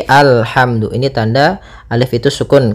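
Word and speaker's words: الحمد: Nah, di sini bukan ulhamdu tapi alhamdu.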